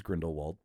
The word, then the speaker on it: Grindelwald: They were like, this is too much heat for us to handle with Fantastic Beasts and you being cast as Grindelwald. So did I pronounce that right, Martin?